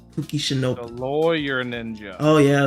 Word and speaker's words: Kuki Shinobu: Kuki Shinobu.